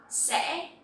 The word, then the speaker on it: sẽ: So here you will see that the tone is dấu ngã, and you will have to pronounce very clearly to make this sound correctly. If not, it will sound like dấu sắc.